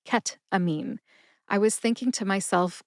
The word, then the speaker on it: ketamine: I'm here to tell you today it is ketamine.